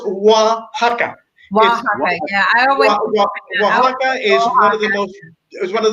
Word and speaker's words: Oaxaca: town can't do it it's pronounced wah ha ha is there was one